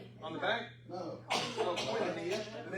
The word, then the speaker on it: koinonia: Koinonia. Koinonia. Yeah. If you want to be more Greek about it, it's like koinonia. But I mean, in the South, that's as close as we get.